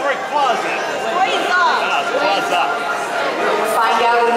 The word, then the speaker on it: Rayquaza: It's Rayquaza. Rayquaza. we'll find out in a minute. Named after a Quasar star. Play it again, play it again. Franchise. Rayquaza.